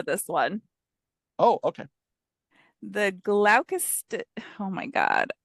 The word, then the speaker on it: Gloucester: Nope, It's not Gloucester. Steyr. It's not. It's Gloucester. Okay. Gel. GLO. Yeah, You spell it. Spell it. GLOU, and then Chester. Cester. Chester. Yeah, Gloucester.